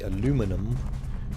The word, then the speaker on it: aluminum: We say aluminum, and the British say aluminium.